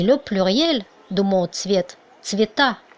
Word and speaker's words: цвета: Regardez le génitif de mot цвет, цвета, et le pluriel de mot цвет, цвета. On écrit ça pareil, mais c'est l'accent tonique qui change. Цвета et цвета.